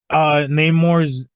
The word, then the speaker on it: Namor: also That's like, also why they're pronouncing it differently, because the original is just Roman spelled backwards because it was Atlantis in the comics, and that's more based on the Greek and Roman like cultures were here. This one's Mesoamerican, so it's Sin Namor.